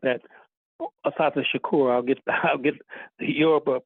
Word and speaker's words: Assata Shakur: rabba man and uh we just lost uh Asata Shaku. or Assata Owali. Let me I mis let me let me correct that. Assata Shakur.